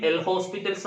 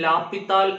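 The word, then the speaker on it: L'Hôpital: ശരിക്കും എൽ ഹോസ്പിറ്റൽസ് എന്നല്ല അത് പറയേണ്ടത്. സ്പെല്ലിംഗ് അനുസരിച്ച് നമ്മൾ എൽ ഹോസ്പിറ്റൽസ് എന്ന് വായിക്കുന്നതാണ്. ശരിക്കും ലാപ്പിത്താൽ എന്നാണ് അത് പറയേണ്ടത്.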